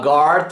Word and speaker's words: guard: Tant en la paraula guardian com en la paraula guard, fixeu-vos que la U no es pronuncia.